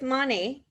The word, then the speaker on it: Monat: So I work with Monet. The company's name is Monet, stands for Spell it.